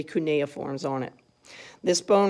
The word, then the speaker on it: cuneiforms: If you look at the first one on your sheet, it says cuneiforms.